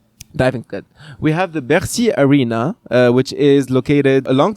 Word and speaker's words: Bercy: Bercy. Repeat after me. Bercy. Like merci. No, Bercy. Yeah, it's like merci.